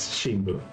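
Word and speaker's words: 新聞: She's saying the word Shimbun, literally newspaper, every single time. So that is your thing you have learned today. You have learned how to say the word newspaper in Japanese, Shimbun.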